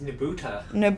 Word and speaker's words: Nebuta: nebu how do you say this again Chris nebuta see you doing this doesn't help me what did I tell you I told you it doesn't help anyways there is a nebuta festival in amori and these were the floats